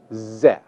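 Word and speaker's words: זֶה: The masculine singular form, this, is pronounced ze.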